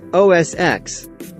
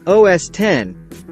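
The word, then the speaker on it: OS X: It's actually said OS10 because of the fact that it is the 10th operating system developed by the firm. X is just a Roman numeral that means 10, which could be part of the confusion.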